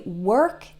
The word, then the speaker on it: work: difficult for people namely work and world both of these are definitely challenging one thing I want to say about both work and world is they are spelled with an O